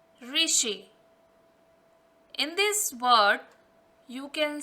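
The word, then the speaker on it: ऋषि: First word is re plus sh plus e. Re, sh, e, rishi.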